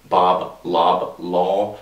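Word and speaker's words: Bob Loblaw: I mean, you got characters like Bob Blah Blah, Bob Lob Law is how it's said, but every time you say it, it comes out like blah blah blah.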